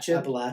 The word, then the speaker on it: Appalachian: I don't like the way you pronounced that, but I'll let it. Appalachian. Appalachian.